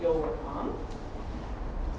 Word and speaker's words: Jolocom: I'm working with a company called Jolocom. This is how it's spelled. It's not YOLO, you only live once, which is the first question I get from most people.